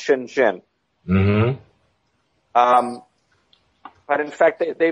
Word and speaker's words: Shenzhen: that's most famous is is shenzen pronounced Shenzhen um but in fact